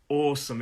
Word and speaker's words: awesome: Awesome, 2 syllables. The stress is on the first syllable. Awesome, it's an aw sound. So we hold that sound.